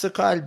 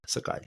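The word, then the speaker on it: Sokal: Yeah, it's SoCal, but the L is soft at the end. SoCal.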